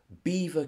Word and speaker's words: Belvoir: came from up in Midlands in leicestershire is beaver Castle which is spelled Belvoir as in beautiful view b-e-l-v-o-i-r I